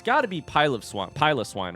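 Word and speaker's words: Piloswine: Pilot Swine, which I definitely, speaking of mispronouncing names, by the way, I definitely called Pillow Swine for a while. Despite the fact that it is not pronounced like pillow, I definitely called it pillow swine.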